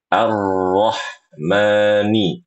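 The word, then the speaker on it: الرحمن: Ketika membaca huruf ronya harus tebal suaranya. Coba ikuti suara saya. Arro. Arro. Arro. Nah, bagus. Ini sudah tebal. Yaitu pangkal lidahnya sudah naik. Arro lagi. Arro. Bagus. sekarang. Arrahman arrahmani.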